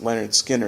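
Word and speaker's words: Lynyrd Skynyrd: their hard-driven debut album pronounced Leonard Skinner 1973 which featured one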